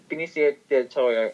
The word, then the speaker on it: Benicio del Toro: did you say his name del toro yeah benicio del toro he is amazing this one he's uh very